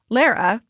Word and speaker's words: Lara: Lara, rhymes with Sarah, she/her.